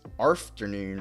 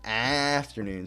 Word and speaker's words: afternoon: Here in Australia, we pronounce afternoon as arfternoon rather than afternoon, so it makes more sense.